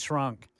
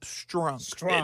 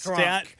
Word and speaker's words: Strunk: I think I'm saying her last name wrong. Amy Adams Strunk. There's a T in there. Yeah, yes. Strunk. See, someone just said, it sounds like you're saying shrunk, Matt. And I'm like, oh, I am.